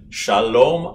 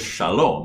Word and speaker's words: shalom: the word is though the word is shalom you would never say shalom you know hey buddy shalom you would never say that if you saw a friend on the street you would say shalom but because it's a